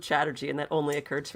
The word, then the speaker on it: Chatterji: Strategy rhymes with Chatterji, and that only occurred to me right now, and I'm pretty excited about it.